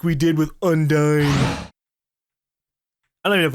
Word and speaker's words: Undyne: People were like, it's not Undine, it's Undyne. But they spelled it just U-N and then D-I-N-E. But because I originally pronounced Undine as Undine, just kind of doing like U-N makes me think of Un again. So, I don't know. We're just gonna say it's Undyne.